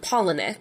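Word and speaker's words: Palahniuk: like poen Pock so I found a video where he pronounces it and he he says like penck saw Pock yeah sorry that's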